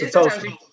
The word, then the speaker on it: Satoshi: It's Satoshi.